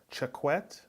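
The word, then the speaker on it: Choquette: I spoke to Jesse his last name is spell CH o qu et te I would pronounce that check wet but I've been known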